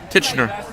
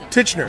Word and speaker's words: Tichenor: thursday night all right i'm here with tishner did i pronounce correctly good enough okay titchener titchener yeah it's a really awkward last name oh